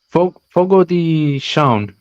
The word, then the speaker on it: Fogo de Chão: Fogo de Chão Okay. is how you pronounce it, but it reads Fogo de Chao, Chao.